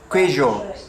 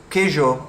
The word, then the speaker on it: queijo: just bought some cheese and it looks like it's spelled queijo. Like that's what it looks like it's spelled. Like I don't know if that's how you pronounce it, but it just hearing someone say queijo, I wouldn't know that they were trying to